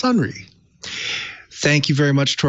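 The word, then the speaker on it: Sonrai: it's spelled s-o-n-r-a-i security dot com but it's pronounced sunri thank you very much to our guest and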